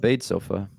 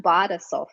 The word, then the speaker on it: Badesofa: that business and now you're the CEO of bade sofa yeah so um it's pronounced B sofa I I I knew is going to be